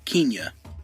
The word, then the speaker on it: Kenya: This is a different one, and her name is actually pronounced Kenya.